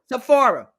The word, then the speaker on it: Sephora: How do you pronounce it, Dana? That Sephora. Sephora.